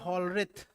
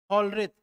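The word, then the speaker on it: Hollerith: ना यह लेकर आए साइंटिस्ट जिनका नाम था हलत क्या नाम था हलत एच O double L ई आर आई टी एच थोड़ा स्पेलिंग दिखना ना हलत ठीक है ना हलत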